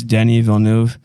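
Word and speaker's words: Denis Villeneuve: of my favorites uh I don't really know how to pronounce his last name but I believe it's Denny Villeneuve and he directed Blade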